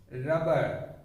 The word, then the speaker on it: rubber: have any germination here there are people who mispronounce it as a rubber rubber wrong pronunciation only a single consonant should be sounded rubber rubber two lips